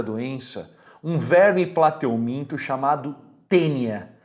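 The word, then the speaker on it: Taenia: A teníase, ela tem como agente etiológico, causador da doença, um verme plateuminto chamado tênia. Se escreve assim, ó, taínia. Tênia sp.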